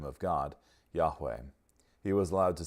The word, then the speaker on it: Yahweh: Yahweh were YH wh were mistakenly pronounced as yehovah instead of Yahweh Adam Clark wrote in